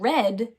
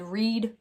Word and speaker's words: read: that is also correct this word could be said read or read so if you're saying I would like to read the book it's spelled and said like that if you were going to say I have already read that book it's spelled and said like that too so that one's tricky